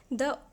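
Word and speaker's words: the: द ओल्ड मैन। तो यहां पे इसे दी प्रोनाउंस करेंगे क्योंकि ये जो अ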